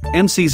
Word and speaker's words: Imcyse: what they are doing mcis pronounced MC's in English is a clinical Stage